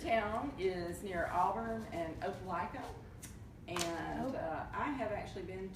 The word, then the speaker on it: Opelika: Now actually Opelika is somewhere, that's how you pronounce it, right? Right. Opelika.